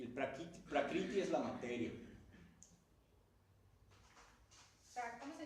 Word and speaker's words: Prakriti: El Purusha es el espíritu y el Prakriti es la materia.